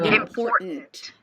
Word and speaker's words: important: important important important starts with an a sound then m in and then you definitely want to pay attention to the word here poor and there isn't really a t It's a glottle stop and then she releases the T. It's not a L T when she pronounces it. It's just important important important important.